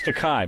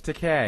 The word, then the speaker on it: Takei: George Teay is It's Teai, by the way. No, it's Teay. Is it rhymes with Okay.